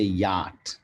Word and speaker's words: yacht: at this word yacht i want you guys to catch the pronunciation here it is you can also say yacht it is yacht yacht american english yacht yacht now which